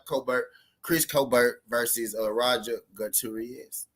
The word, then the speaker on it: Gutierrez: Our boy now it's your boy Trap Colbert, Chris Colbert versus Rodger Gutierrez.